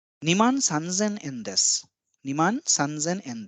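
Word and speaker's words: さんぜん: Now 1,000 is sen and this is an exception when the value is 3 we do not call it sansen but it becomes sanzen for the ease of pronunciation.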